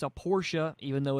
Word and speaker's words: Porsche: have that great shirt that says Porsche is a two syllable word and we've Porsche approves